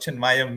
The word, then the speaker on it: Chinmaya: and I'm looking forward to knowing more about chin mayaya Mission if that's pronounced correctly yes chinmaya Mission chin mayaya Mission